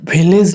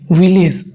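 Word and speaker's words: village: From one विलेज, विलेज नहीं विलेज, वो का उच्चारण करना है, विलेज टू अनदर विलेज।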